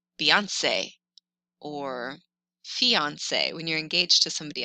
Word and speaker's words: fiancé: An E with an accent aigu is pronounced A, like Beyonce or fiancé when you're engaged to somebody else.